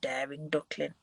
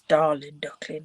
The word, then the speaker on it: Darling Duckling: I keep calling it daring duckling, but it's darling duckling with daisies and garden green on the back.